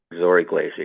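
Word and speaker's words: Zory Glaser: There was also work by Zori Glaser. Am I pronouncing his name correctly? Zori Glaser, yes.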